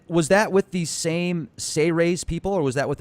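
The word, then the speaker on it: Seyrehs: It's actually pronounced Sey-Rays, as if it was spelled S-E-Y-R-E-H-S, or Sey-Rays. Sey-Rays, okay. So instead of Sea-Ray, like the boat, we'll call them Sey-Rays. Yeah, I like that. It's not series like the World Series, it's Sey-Rays.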